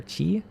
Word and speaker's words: Chi: One big one I hear a lot of people mispronounce recently is an enemy named Kai, I'm gonna guess, or Chi. Carmen says it's fine, you weren't using those hit points anyways. Exactly, I wasn't in combat. Yuriko says it's supposed to be the Greek letter, so it should be pronounced, so yeah, K, or Kai, K.